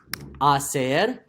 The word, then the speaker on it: hacer: To make or to do starts with the silent H. Hacer.